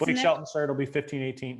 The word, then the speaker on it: Blake Shelton: This would be Blakely Shelton. Who? Blake Shelton. Some country singer. Maybe I said his name wrong. You said Blakely. I said Blake.